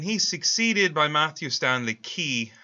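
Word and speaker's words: Quay: Now, Cameron dies in 1889, and he's succeeded by Matthew Stanley Key, this is pronounced Key, Q-U-A-Y, as the second boss of the Republican machine in Pennsylvania.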